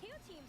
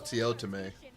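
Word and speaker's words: TeoTeam: So Teo Team's Incineroar comes in, gets the Intimidate onto Teo Team is how you say that guy's name. I thought it was Teotime.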